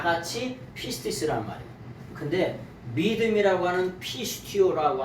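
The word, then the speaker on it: πίστις: 믿음을 뭐라 그러냐면 faith라고도 얘기하고 헬라어로 말하면 피스티스예요. 피스티스. 이걸 피스티스라고 읽는데 이 피스티스라고 하는 말을 뭐라 그러냐?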